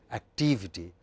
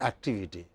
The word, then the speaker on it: activity: What is the pronunciation of this word? Activity. It is not activity. It is not activity. What is it? Activity. This is stressed.